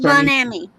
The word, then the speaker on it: Bon Ami: Now, that's pronounced Bon Ami.